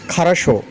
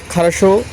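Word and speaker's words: Хорошо: আমি ভালো আছি, তবে সে যদি বলে ভালো আছি, তার রাশিয়ান হবে খারাশো, ইয়া খারাশো। ইয়া খারাশো শব্দের অর্থ হচ্ছে আমি ভালো আছি, ধন্যবাদ। আপনি বলতে পারেন ধন্যবাদ, তার কথার যখন বলবে সে খারাশো, ইয়া খারাশো, আপনি বলবেন ধন্যবাদ।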